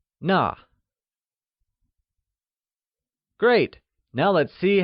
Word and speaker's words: 那: That translates as 那, which is also pronounced using the falling tone. Try and say 那. It's like 那.